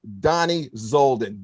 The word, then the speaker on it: Dani Zoldan: and that golden voice folks that is mr donnie zolden danny welcome to the show how are you